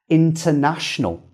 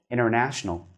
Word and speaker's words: international: is the glottal t if the t comes after n regardless of the position the t sound is gone and not pronounced you can come across